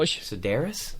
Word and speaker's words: Sedaris: David how do you say his last name Sedaris Sedaris I don't know who that is he's